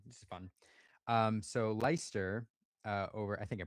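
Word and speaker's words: Leicester: Um, so Lyster uh over I think I pronounced that right. I believe it's Lchester. No, I'm just It's You're right. It's Lyster.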